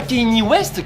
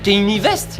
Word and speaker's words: Kanye West: En France, on le prononce V comme un simple V. Mais en Belgique, on le prononce WE.